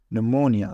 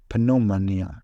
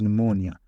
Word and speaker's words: pneumonia: a little bit High PN which pronounced n it's really tricky for some medical students that pronounce the this word correctly pneumonia some of the students might pronounce this word incorrectly and say Pia which is not correct